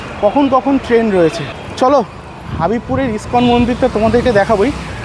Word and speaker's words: হাবিবপুর: কখন ট্রেন রয়েছে চলো হাবিবপুরের ইসকন মন্দির থেকে তোমাদেরকে দেখাবোই আবার দেখো ভুল উচ্চারণ এটা কিন্তু তোমরা কখনোই করবে না কথাটা হচ্ছে হাবিবপুর নট হাবিবপুর হাবিবপুরের ইসকন মন্দির ছাড়াই